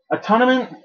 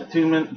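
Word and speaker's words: Attunement: trying to do the characters that I am a tournament a tournament is for like clerics like a tment atun it's actually pronounced atunement but if you're a cleric or anything like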